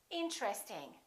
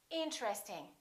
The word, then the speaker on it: interesting: at a few more most people don't say interesting they say interesting interesting this TR are connected interesting look at this